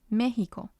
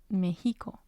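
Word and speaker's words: México: the last syllable well the tide is used when there are exceptions to the rule for example Mexico Mexico without the ti on the E it would sound different it would sound like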